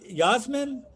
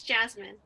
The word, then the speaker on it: Jasmine: that's great okay uh yazm yazmin is that right how you say it i'm miss jasmine jasmine okay okay go ahead